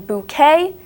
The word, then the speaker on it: bouquet: different sounds as in bouquet and check bouquet sounds like it doesn't even have a Q in there it sounds like it's a k bouquet but no it's a